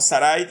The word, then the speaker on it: Sarai: Ahora dice que Abraham se casó con Sarai, que Sarai es Sara, la que conocemos nosotros como Sara, pero según la NBI se pronuncia como Sarai.